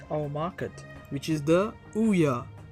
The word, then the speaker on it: Ouya: It's about the newest console to hit our market, which is the Ouya. It's supposed to be pronounced like Booyah, but without the B.